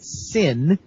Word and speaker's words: CIN: The multi-market study of critical information needs, or CNN pronounced SIN, involved the FCC sending people to question reporters and editors about why they chose to run particular stories.